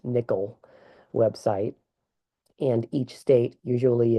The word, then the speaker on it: NCIL: You can access information about the National Independent Living Movement at the National Council on Independent Living or NCIL pronounced nickel website and each state.